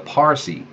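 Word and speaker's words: Parsee: Now, even in India today, you find some peoples called the Parsi. And again, you know, I'm going to say it that way. It's spelled P-A-R-S-E-E in terms of our language anyway.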